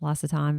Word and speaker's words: L'Occitane: It looks like Occitane or L {apostrophe} Occitane, but it's pronounced L'Occitane, but it's used to be in the mall and it's in some malls, but it's Right.